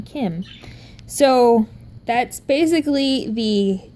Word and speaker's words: Kim: So you have the Kim, not Kin, Kim.